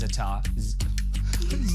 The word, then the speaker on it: za'atar: And it's always za'atar. Za'atar. I feel like it's like a hi-ya when you say it. It's like za'atar. Yeah, she always says the R is silent.